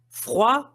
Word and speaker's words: froid: sentimental tal prononcé d froid ou chaud Nem dos dois. Nem o D do froid, nem o D do show. Froid ou cha.